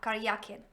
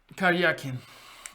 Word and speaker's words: Karyakin: Ah, I get it now in Russian, so it's Karyakin. The stress is on the ya, Karyakin. Karyakin.